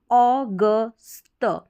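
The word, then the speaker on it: August: भी लिखा है, देखें, ए यू को ओ पढ़ा, जी और यू साथ में ही रहेगा। जी का तो उच्चारण ग है, और ग के साथ ही ये जो यू है इसका साउंड आ रहा है अ करके, ऑगस्ट। अब यहाँ पर स्ट करके आ रहा है अगस्त।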